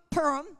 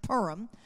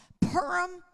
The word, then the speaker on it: Purim: In that very critical time between Purim, I'm sorry, I have to train myself to say it different. It's pronounced Purim. Purim and Passover, which is 1 month and one day.